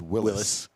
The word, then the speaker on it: Willys: Restored 1943 Willys. It's actually pronounced Willis.